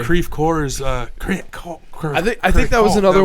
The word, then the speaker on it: Creve Coeur: It's like Creve Coeurs. I think that was another one that was in the video. They're like, it's Creve Core, like just yelling at.